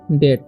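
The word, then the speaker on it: debt: का उचार नहीं होगा इसे पढ़ेंगे हम लोग डेट ठीक है यहां पर सी ओ एम बी है ठीक है सी का उच्चारण य पर क हो रहा है ओ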